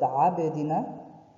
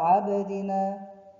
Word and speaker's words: عبدنا: But we are making the place which the letter is coming out of it to have like touch and come back, touch and come back, like عب, عبدنا, not عبدنا, عبدنا.